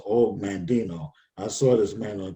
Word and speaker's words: Og Mandino: It's OG, but it's pronounced Og Mandino.